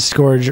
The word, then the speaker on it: scourge: sky on isn't pronounced and Scourge rhymes with urge that last one has